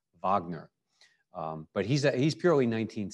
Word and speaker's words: Wagner: a wagner matinee because they don't realize it's richard wagner and he was german and it wasn't pronounced wagner it was pronounced wagner but he's he's purely